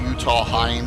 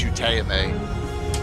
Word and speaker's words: Utahime: She explained to me that it is Japanese and it's not Utah Heim or whatever it looks like. It's Utahime.